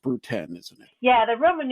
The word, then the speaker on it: Brood X: famous one is is not going to be pronounced brood X it's going to be pronounced brood 10 isn't it yeah the r a numeral yeah